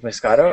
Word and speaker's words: Muscato: that difficult uh joining me today is Dave Moscato of mu Sasha hello see I pronounced it correctly this time yes fantastic Rogers